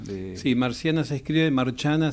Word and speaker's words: Marciana: Sí, Marciana se escribe, Marciana se dice Marciana. En italiano.